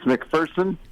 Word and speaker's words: McPherson: say it uh it's mcpherson uh there's no fear in mcpherson that's good and then